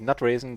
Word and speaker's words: NutRaisin: Because phonetically, NutRaisin, there's also nut raising in there in NutRaisin.